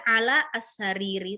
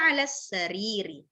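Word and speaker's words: على السرير: dan bacanya kalau misalnya gini, hiya ala, ya kan, ala as-sariri. Juga bacanya nggak perlu hiya ala as-sariri, terlalu berat, ya kan? Nah, maka langsung digabung aja, hiya ala sariri. Alif lamnya langsung ke sin, ya.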